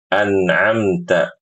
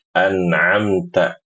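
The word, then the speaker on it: أَنْعَمْتَ: An'amtah ini jangan sampai ditukar antara hamzah dengan ain ya. Jangan dibaca siratalladzina anamta. Anamta. Ini keliru. Yang benar anamta. Anamta. Kemudian huruf nunnya jangan sampai diqalqalahkan. Mimnya juga jangan sampai diqalqalahkan. Anamta. An'amta. Ini keliru. Yang benar. An'amta. An'amta seperti itu, Ibu-ibu, ya.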